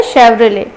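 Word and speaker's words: Chevrolet: सो शेवरलेट नहीं होता है ये, एक्चुअली इसका प्रोनाउंसिएशन क्या होता है शेवरले, तो इसे हम शेवी भी बुलाते हैं।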